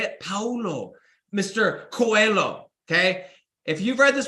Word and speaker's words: Paulo Coelho: I think it's Paulo Coelho. Paulo, is that how you say it? Paulo, Mr. Coelho, okay?